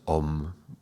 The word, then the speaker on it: Om: Now, if you look online, you will find that even though it's written as A, U, and M, it's actually pronounced Om.